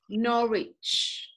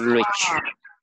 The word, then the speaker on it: Norwich: w it's a silent sound okay nor me nor each not Richard okay yeah no II just like man wanker pronounce this one Lila Richland rich rich okay